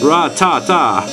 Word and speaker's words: Rattata: Ratata. Okay, this is how you pronounce and then you answer your own questions.